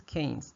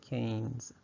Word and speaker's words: Keynes: name H this is canes so think of this what is that that's a cane all right and then make it plural what do you get you get Canes All right so that's